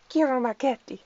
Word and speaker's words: Ciro Marchetti: Chiro? Yeah, I have a friend who's from Italy, and she goes, it's Ciro Marchetti. And I was like, okay, I'll pronounce it if I can, rather than Ciro Marchetti.